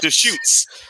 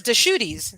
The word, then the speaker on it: Deschutes: 5th uh deschutes brewing i can actually say that word deschutes most people can't pronounce that they'd be like yes my friend in texas says deshooties so but if you